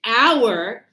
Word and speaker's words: hour: The other one when we say here an hour here, the H is sh silent.